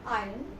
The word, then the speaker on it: iron: iron your clothes so you will pronounce this word as I'm I'm not iron not iron not iron iron will not say you will say